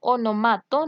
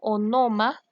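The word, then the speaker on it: ὄνομα: Vamos con onomato, del griego onoma, onoma, con acento en la O, onoma, que significa nombre, sonido o palabras.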